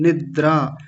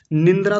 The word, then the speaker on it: निद्रा: होता निंद्रा होता है निद्रा निंद्रा तो तब होता जब ये बीच में न बना होता इसमें है ही नहीं तो क्या बोलेंगे निद्रा ऐसा बोलेंगे ये जो लिखा हुआ